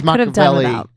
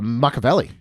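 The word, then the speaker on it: Machiavelli: it on the top 10 and that is Mavelli um from Luca. the cat. How do you say his name again? Should be uh Makaveli.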